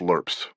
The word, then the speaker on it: LRRP: His father explained that he'd serve his time as part of the US Army's long range reconnaissance patrol or LRRP, pronounced lur.